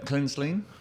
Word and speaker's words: Kraenzlin: Kraenzlin. Is that how you pronounce it?